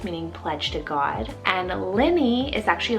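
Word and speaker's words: Lennie: so i have the name liddy lissy and lenny so l i d d i e double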